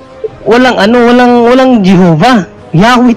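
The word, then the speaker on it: Yahweh: ano walang walang Jehova yahwe talaga yan yahwe talaga ang ang bigkas nila diyan hindi Jehova pero sa panahon kasi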